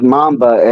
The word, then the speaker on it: mamba: it's pronounced mamba, and it's called Mamba.